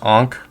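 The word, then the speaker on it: ankh: hearing the word ank I know it's pronounced ank every time I hear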